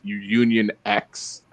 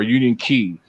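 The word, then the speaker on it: Union χ: is the Kingdom Hearts Union X or Union Key. That's actually it's not X, it's Key, because that's how they pronounce the X in the game.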